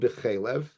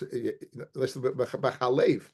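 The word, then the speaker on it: בחלב: We go after the way it's pronounced. Now it's read b'chelev. It's pronounced. It's b'chalev. It's pronounced b'chalev. If you look at the pasuk, it's written b'chelev. It's pronounced b'chelev. No, b'chalev. It's pronounced b'chalev, in which is milk.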